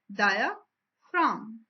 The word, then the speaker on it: diaphragm: As you can see, in diaphragm G is written in red color because it is silent word, and we will call it as diaphragm.